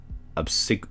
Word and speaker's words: obsequious: The girl, who he gives the nickname Ren, is friendly yet immature and grows obsequious?